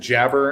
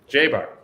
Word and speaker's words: Jaber: doing you know what i said jabber and i'm that is like the most american butchering i'm sure what is the right way to say your last name uh everyone gets it mixed up but it's java jaybar okay that works so